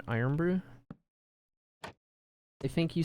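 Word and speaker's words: Irn-Bru: It's like iron, right? You pronounce that iron brew?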